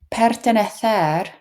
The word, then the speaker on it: pertenecer: Pertenecer or pertenecer, both are fine, both are acceptable pronunciations.